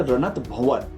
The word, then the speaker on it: रणत भंवर: मंदिर को कहते हैं रणत भंवर। उसका जो करेक्ट प्रोनाउंसिएशन है रणत भंवर के नाम से बड़ा फेमस है ये।